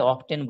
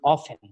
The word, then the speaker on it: often: বললেন এটা হবে না, কারণ এটা হবে অফেন, OFTEN উচ্চারণটা হবে অফেন। অর্থাৎ আমরা না জেনেই বলেছি অফটেন, কিন্তু স্যার জেনেই বলেছেন অফেন। কিন্তু সেই সময় স্যার যদি ব্রিটিশ ইংলিশ আমেরিকান ইংলিশটা পার্থক্যটা জানতেন তাহলে বলে দিতেন both you R correct, you ক্যান সে অফেন অর ইউ ক্যান সে অফটেন, no problem.